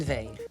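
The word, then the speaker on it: Weil: Veil, Kathleen Veil. Ah, le W, ça prononce... Oui, comme en France, comme Simone Veil. Comme si... ou Wagner.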